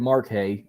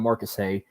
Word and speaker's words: Marcus Hay: He said my first name wrong. He said Mark Hay instead of Marcus Hay.